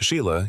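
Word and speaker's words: Sighle: Their daughters Susan, Joanna, and Sheila, spelled seagull, but pronounced Sheila.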